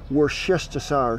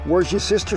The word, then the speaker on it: Worcestershire: I'm gonna go ahead and say it, Worcestershire sauce. Pronounce that sauce. Worcestershire. Worcestershire. W sauce. Where's your sister sauce?